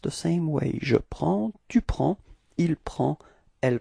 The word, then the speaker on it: prends: Okay, so you can see that we've got S at the end and then D as well, but then we don't pronounce them. So actually the only thing we will pronounce for this form is P-R-E-N, and it's the sound prend.